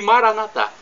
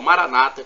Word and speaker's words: Maranata: E Maranatá, como dizemos nós católicos, ou Maranata, como dizem nossos irmãos separados, os evangélicos ou protestantes. Não importa a pronúncia, somos todos irmãos e cristãos.